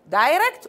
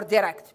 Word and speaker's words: direct: And by the way, we have two, as you have said, we have two pronunciation. We can say direct or direct. Both of them are correct.